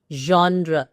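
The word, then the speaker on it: genre: You like to सी जॉन्रा इज the perfect pronunciation to the world.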